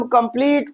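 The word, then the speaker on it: complete: यहां पर देखिए इ कहां आ रहा है? लास्ट में आ रहा है। इसे हम कंप्लीट पढ़ेंगे।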